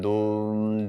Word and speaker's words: Dum: We all know Om and Dum. It's like the first syllable of her name, but with a at the end of it.